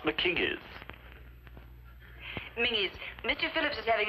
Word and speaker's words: Mackenzie: In that case, why aren't Mackenzies pronounced McKingies?